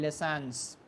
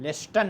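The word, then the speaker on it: listens: समियत तिफलू, इसका मुजारे क्या बनेगा, यस्मउ तिफलू, द चाइल्ड लेसन्स, इसमें टी जो है आपका साइलेंट रहता है, लेसन पढ़ा जाता है, लेस्टन नहीं पढ़ेंगे।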